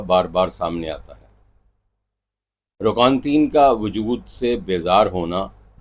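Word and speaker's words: Roquentin: کا مرکزی کردار انطوان روکانین ہے، جو روکانتین انطوان روکانتین اس کا صحیح تلفظ ہے، جو اپنی زندگی کی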